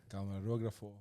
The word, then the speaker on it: Camarógrafo: Camarógrafo. So you spelled it right. It's spelled it right. It's K-A-M-A. The accent is on the last O.